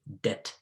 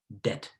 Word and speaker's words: debt: depth where we say debt debt debt don't pronounce the b please next doubt which many